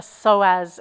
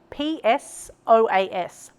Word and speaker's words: psoas: The next shape that we are going to find together is another personal favorite, and it's a psoas stretch.